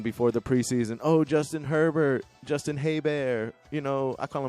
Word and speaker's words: Herbert: Then we can call him Herbert, how he wants to be called, but I'll call him Haybear. Because there was a Detroit Lions quarterback named Bobby Haybear back in the day and was spelled the same as Justin Herbert.